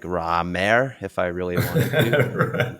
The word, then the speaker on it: Raymer: So it's Kyle Raymer, Raymer. Is it Raymer? Am I pronouncing it right? Yeah, your play.